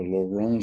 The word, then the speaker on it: Laurent: derived something called uh a lawrence series or a laurent series if you want to use the french pronunciation my approximation to the french fox french pronunciation um what what we